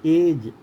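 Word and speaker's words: edge: इसके बाद में हम ई देखें, एज, तो जा में रुक गए, ई का उच्चारण नहीं हुआ।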